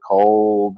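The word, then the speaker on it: כל: one of them anyway this is the sound of like word cold it's spelled differently but it sounds the same this means all its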